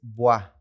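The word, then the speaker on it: voix: se dice voz en francés bueno vos es buah exactamente pero también es porque se escribe con x Ajá la escritura es B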